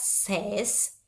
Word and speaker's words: says: Oke, tulisannya S-A-S-Y, tapi dibacanya says. Oke, bukan says.